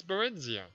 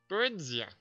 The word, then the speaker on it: Barenziah: actually say her name it's barenia there yeah barenia the name came dimm